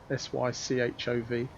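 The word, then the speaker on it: Sychov: sick off or saitama he pronounces that sych o v and i think i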